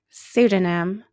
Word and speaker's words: pseudonym: tough words right psyche pseudonym psychologists what sound do you hear at the beginning psyche pseudonym psychologist that's right it's the S sound okay let's put that